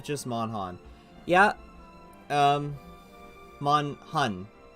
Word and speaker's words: MonHun: mon han yeah um mon hun see i call it mon han and like that's the mistake of me it's not it's not